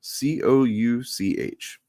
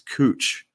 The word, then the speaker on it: Couch: So it's spelled Couch. Okay. Okay. Which it's couch, right? No. Yeah. And people will correct you like you're a fucking idiot if you say a couch because it's cooch.